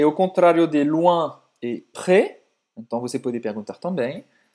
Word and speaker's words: près: La cathédrale Notre-Dame est-elle près d'ici? La cathédrale Notre-Dame est-elle près d'ici? La cathédrale Notre-Dame est-elle près d'ici? Então, o S de près não é pronunciado, né?